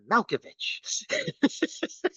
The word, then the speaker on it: Malkovich: It's Malkovich.